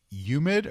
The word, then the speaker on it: humid: garage when it's been humid, or how do you pronounce it, Steve? Hard H. Humid.